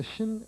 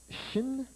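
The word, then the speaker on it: שׁ: est inscrit au milieu se prononce chin et cette lettre là se continue de se prononcer chin tant que le point est inscrit au milieu aussitôt que le point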